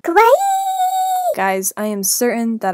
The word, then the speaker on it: kawaii: okay cool cool cool cool you're saying cool Kawaii wrong Kawaii guys I am certain that I know the proper pronunciation of kawaii wow that was amazing with